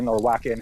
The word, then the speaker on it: Wacken: festivals in Europe called, it's Wacken, whoever you just want to pronounce it. People I've heard in the movie say it both ways, but it's a festival